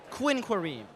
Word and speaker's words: Quinquereme: Will you pronounce it one more time? I'll I'll do it a little slow. Quinquereme. All right, Quinquereme.